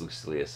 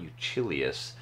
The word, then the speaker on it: Lucilius: I did confirm the pronunciation of Lucilius. It is Lucilius, as I thought. It's not Lucilius. If we were Italian, it would be Lucilius, although it is Roman, so it does make you wonder a little bit.